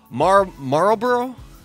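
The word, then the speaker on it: Marlborough: moratoriums until next year Marlboro Marlboro like the cigarette Marlboro it's spelled differently is still considering a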